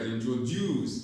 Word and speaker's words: Introduce: Introduce. Introduce. Introduce. Okay? Introduce. The stress is on juice.